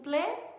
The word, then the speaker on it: plaît: Quando eu digo s'il vous plaît, por exemplo, você até ouve um pouquinho daquele L no s'il vous plaît, né? Mas você não ouve o S do vous, você não ouve o T do plaît, né?